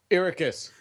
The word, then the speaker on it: Arrakis: Ericus.